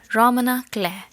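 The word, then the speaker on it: roman à clef: Moving on, the last type of fiction is Romana Clare. F is silent here.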